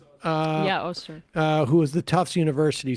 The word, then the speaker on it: Öztürk: Is that how we pronounce her name? Yeah, Öztürk.